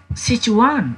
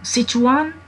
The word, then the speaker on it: Sichuan: attention in pronunciation say jamie please uh pronounce it correctly till sich one sichuan sichuan paper sichuan pepper sichuan pepper means timur or